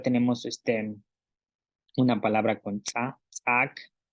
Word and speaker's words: ts'aak: grasa, selek, pierna, y tenemos palabras con tsa, es decir, con la glotal, tsaak, medicina, selek, pierna. Ok, ok, aquí son, bueno, solo tenemos una palabra con tsa, tsaak, y estas son palabras con tsa, selek, pierna, tsimi, caballo.